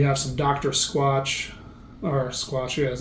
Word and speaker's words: Squatch: Squatch or Squatch, yeah, that's how you say it.